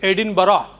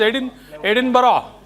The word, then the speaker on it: Edinburgh: This is Edinburgh. So unless someone tells you, you wouldn't know. Edinburgh.